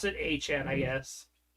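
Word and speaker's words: Etienne: A Chan. ETN. He wants to pronounce it Achan.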